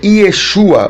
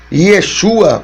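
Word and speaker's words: ישוע: pelos discípulos, pelas pessoas, o seu nome no original é Yeshua ou Yeshua, né?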